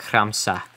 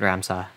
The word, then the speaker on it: khramsa: If it's too much to pronounce things like khramsa, which means garlic. Or onion, I think. You don't have to do that. You can pronounce it ramsa.